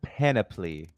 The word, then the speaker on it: panoply: It's pronounced panoply.